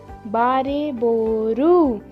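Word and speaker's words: バレーボール: Bariboru is the correct pronunciation for volleyball, and we will write it like this.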